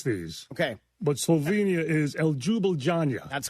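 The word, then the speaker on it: Ljubljana: I don't know how to pronounce these. Okay. But Slovenia is El Jubiljanja.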